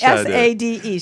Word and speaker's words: Sade: Well, but this is Sade. She doesn't spell that right, does she? I mean, what's wrong with how do you where's get the that? H? Right. Sade, S-A-D-E.